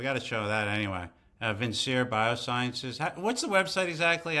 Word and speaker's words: Vincere: Oh, spell it. V I N C E R E.